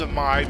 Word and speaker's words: Dzemael: This is Dzemael, and we know it's pronounced Dzemael because eventually in the Heavensward expansion you'll actually hear this name spoken.